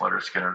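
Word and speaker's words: Lynyrd Skynyrd: I remember I was listening to this Leonard Skinner album, pronounced Leonard Skinner.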